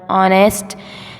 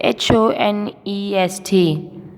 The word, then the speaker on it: honest: Can you find the word honest, which spelling is HONEST? Here is that word. It's not honest, it's honest. What? Honest. Because some words has silent letters, which is written but not being said. Dear students, silent letter का